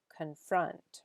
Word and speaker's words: confront: Confront, right? So the emphasis is on the second syllable, confront. And they're both schwas, right? Because it's confront.